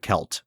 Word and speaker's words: Celt: ahead and assume that it's pronounced kelt because it's you know it's Celtic yeah like like the Boston Celtics yeah I was going